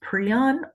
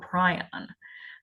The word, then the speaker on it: prion: These are, it can be pronounced prion or prion. Both of them are right.